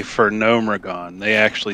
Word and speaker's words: Gnomeregan: their charges for cosmodon yeah they say for gnomeregan they actually pronounce that so it's it's official okay we